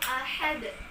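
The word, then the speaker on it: أَحَد: Qul huwallahu ahad. Coba sama-sama kita baca. 1, 2, 3. Qul huwallahu ahad. Iya, jadi cara membacanya sidalnya ini dia kita pantulkan, dia kita getarkan, kita guncang dia.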